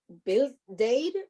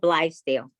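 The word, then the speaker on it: Blythedale: She is also the manager of foundation and corporation relations for the Bill Dade Children's Hospital. Did I say it correctly? No, it's okay. It's called Blithedale.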